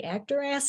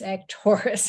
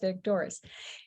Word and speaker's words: Actoris: He looked at it and said, does that say Actoris? And I said, no, it's Actoris. It's pronounced Actoris.